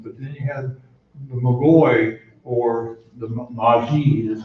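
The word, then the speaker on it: magoi: is literally and originally the word mcgoy or actually pronouncing on devoted or Magi it's m-a-g-o-i the head over all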